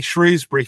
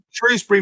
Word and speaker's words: Shrewsbury: so it would be it' be shrewbury for me um it's only the POS Posh people that say sh shrewbury okay so both are acceptable yes yeah Shrewsbury rhymes with a lot